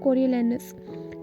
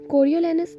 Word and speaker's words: Coriolanus: है the tragedy of कोरियोलैनस. कोरियोलैनस एक ऐसा वर्ड है जिसको हर इंसान अपनी मर्जी के मुताबिक प्रोनाउंस करता है, लेकिन इसकी दो प्रोनाउंसिएशन है जो कि बहुत ज़्यादा फेमस है, कोरियोलैनस एंड कैरियोलैनस.